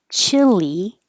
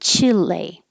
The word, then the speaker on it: Chile: You'll hear Americans say this both ways, Chile and Chile. So if it sounds like chili, yes, it sounds just like the food, chili.